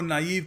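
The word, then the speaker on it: naive: इसको नाईव कहते हैं। कई जो इंग्लिश टीचर मैंने देखा है नाव नाइव पता नहीं क्या कह देते हैं।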